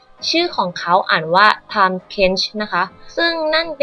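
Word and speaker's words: Tahm Kench: น้ำ กัน แน่ ชื่อ ของ เขา อ่าน ว่า Time Kench นะ คะ ซึ่ง นั่น เป็น ชื่อ ที่ อ่าน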